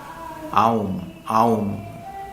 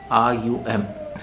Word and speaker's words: Om: So some people pronounce it as Om. Some people pronounce it as Ayum, Aum, A-U-M. So technically it is pronounced as Aum.